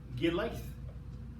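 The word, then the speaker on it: Gilith: muffalon wasn't even Ruth her name was gear life you spell it g-i-l-i-t-h uh that was her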